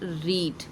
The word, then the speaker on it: read: एक बात और बता दूं, एक वर्ब है रीड। रीड को फर्स्ट फॉर्म में रीड ही पढ़ते हैं, बाकी दोनों में स्पेलिंग यही रहती है, रेड रेड पढ़ते हैं, रीड, रेड, रेड, ठीक है, स्पेलिंग यही रहेगी।